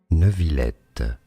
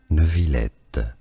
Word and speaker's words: Neuvillette: A name from French. In French it's said as Neuvillette. Neuvillette. Neuvillette. In English, it's normally pronounced, because this sound in English doesn't exist, Neuvillette. Neuvillette. Neuvillette or Neuvillette.